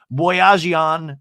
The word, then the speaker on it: Boyajian: And then I realized it was Ryan Boyajian.